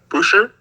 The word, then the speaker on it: Boucher: But I heard a lot of Pascal Siakam, Jeremy Lamb, Chris Boucher from Raptors, or how you pronounce it? Boucher. I heard that one too.